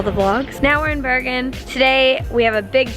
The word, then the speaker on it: Bergen: How do you say it like that? Bergen. I don't know if I'm saying it properly, so I'm kind of like self-conscious about it. It's just Bergen.